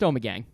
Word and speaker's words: Ommegang: New York if first of all is it pronounced Omega it's pronounced Ommegang okay and the only thing I know that